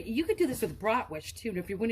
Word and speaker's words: bratwurst: I think it's really pronounced bratwurst. Like, you know, you're the worst person ever.